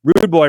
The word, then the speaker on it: Rude Boy: 46 strikes per minute he's at plus 220 Rude Boy Randy Brown not Rudy Randy Brown is call you he actually messed